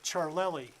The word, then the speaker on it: Ciarlelli: type in the last name field type charlei and for those who might not have known me for 40 years that's spelled c i a r l e l